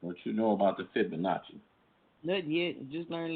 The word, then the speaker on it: Fibonacci: bar is I say it right the F Fibonacci what is it Fibonacci yeah Fibonacci bar yeah that's the Fibonacci see this is